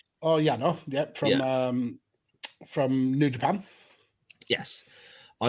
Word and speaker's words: Yano: Is that how you say it, Yano? Oh, Yano, from New Japan.